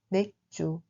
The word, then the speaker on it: 맥주: On le prononce en réalité comme 맥주. 맥주.